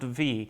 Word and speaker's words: Vi: And that V is actually a capital V with a lowercase I, but it's pronounced V.